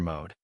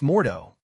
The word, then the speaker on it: Mordo: I'm always studying Master Mode, Bai Yang replied with a grin. It's pronounced Mordo.